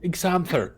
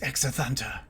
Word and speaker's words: Exathanter: Exanther, was it? My name is Exathanter.